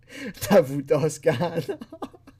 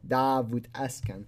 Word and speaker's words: Davut Oskan: Imagine all the pictures of Jeff Stacy and Davut Oskan. It's actually pronounced Davut Askan.